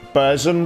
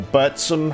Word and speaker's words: Burzum: And Varg is from the band Burzum, or Burtsum, however you want to pronounce it.